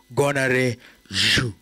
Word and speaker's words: Gonarezhou: name, but he's just taught me how to pronounce it. So it is Gonarezhou.